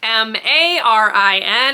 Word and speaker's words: Marin: You are following a girl who has my actual name, except it's spelled M-A-R-I-N.